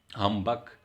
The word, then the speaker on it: humbug: The two examples are of the verbs are humbug, humbugging, and humbugged. So the stress is on the first syllable, first vowel. The stress is not on the second one.